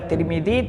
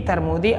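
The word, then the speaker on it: Tirmidhi: atau tarmudzi atau turmudzi jadi ada tiga cara baca boleh kita baca Tirmidzi tarmudzi atau turmudzi qahih hadis ini Hasan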